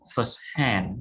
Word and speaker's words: firsthand: a number three first hand first hand stress on hand right stress on the last syllable first hand for informed